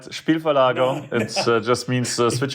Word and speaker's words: Spielverlagerung: It's not as easy to pronounce, right? Spielverlagerung.